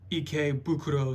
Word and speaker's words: Ikebukuro: Yeah, I actually got these at one of the Pokemon Center stores in Tokyo, Ikebukuro specifically.